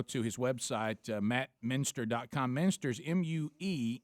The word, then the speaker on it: Muenster: yeah don't call him monster he hates that just start just like I said change the cheese just just pronounce the cheese my way and you won't screw up my name ever again that's it now if